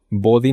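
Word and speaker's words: Bodhi: Body no es body como cuerpo, es body de conciencia en sánscrito que se escribe BR o B H I latina.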